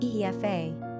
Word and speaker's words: Aoife: Pronunciation, Aoife.